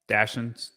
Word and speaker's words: dachshunds: Dachshunds.